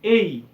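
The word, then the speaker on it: A: যে ইংলিশে আলফাবেট হচ্ছে কয়টা 26 টা কিন্তু এটা ভুল উত্তর ইংলিশে আলফাবেট কতটা একটা আলফাবেট সো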